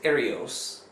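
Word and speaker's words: ἱερεύς: pronounce my Greek poorly it's spelled like hyos but it's Aros Aros okay it's the same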